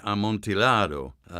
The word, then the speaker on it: Amontillado: the pronunciation on the montiella montiado yeah it sort of depends what you're trying to do if you're talking about um an italian play it would be amontillado if you're talking spanish